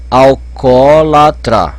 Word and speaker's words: alcoólatra: Onde está o acento? Alcoólatra. Tá aqui nesse meio. Então, ó. Alcoólatra. Terceira sílaba, leva acento.